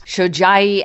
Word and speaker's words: Shojai: Yeah, she's very happily married to a man with a tricky last name to pronounce. Shojai, and, it's coming up on 34 years.